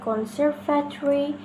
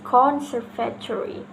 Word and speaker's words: conservatory: For example, the correct one is conservatory. The incorrect is conservatory.